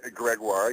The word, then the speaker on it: Gregoire: it well said well um your last name greguar I don't want to say it wrong the last name is greguar yes je Greg you can call me